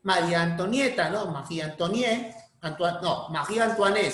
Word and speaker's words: Marie Antoinette: María Antoniette, Marie Antoinette se pronuncia en francés, ¿no? Marie Antoinette.